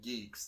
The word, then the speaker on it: G3EKS: Our good friend Geeks, that's spelled G3EKS, are having their 2023 Geektacular Spring Comic Book and Toy Show.